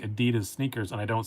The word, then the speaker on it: Adidas: wait what yeah it's adidas it's a german brand and that's how you say it it's adidas it's not adidas that is just a true fact but i have a